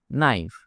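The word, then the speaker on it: knife: নাইফ। এখানে কে silent.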